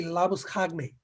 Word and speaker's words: Labuschagne: They have that they have simplified his name to Labuschagne, right? I mean, his original name pronunciation would be Labuschagne.